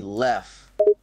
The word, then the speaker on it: RichLev: It's Lev, not, bro. You were pronouncing it when it's supposed to be Lef.